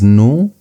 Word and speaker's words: nu: And the next one is new. And new is a bit confusing because it looks like the English v, but it's actually equivalent to n.